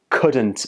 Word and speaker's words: couldn't: Instead, say, I couldn't agree with you more. Also, when native speakers are speaking really quickly, sometimes the t sound in couldn't gets dropped, and it's pronounced like this. Couldn't.